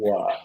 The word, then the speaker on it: Assiniboia: I pronounced it Assiniboia.